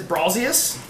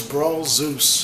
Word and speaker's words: Brawlzeus: CJ yells at me because I say it as Brawlzius. It's Brawl Zeus.